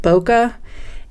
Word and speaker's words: bokeh: photographers use it's spelled B okay eh we pronounce it bokeh and what people like especially say with you